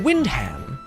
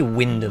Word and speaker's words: Wyndham: Windham. Wyndham? I think it's probably Wyndham. Oh. You don't usually pronounce the H's like, you know, hard as I just did.